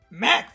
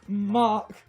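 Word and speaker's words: Mach: incredibly useful defense curl ha ha i say mac punch because it's but it's pronounced mock here's the thing it was like match oh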